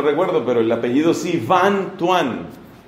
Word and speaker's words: Van Thuan: Su nombre es de apellido, el nombre no recuerdo, pero el apellido sí, Van Thuan. Ese Van se escribe con B corta y Thuan con TH, Van Thuan.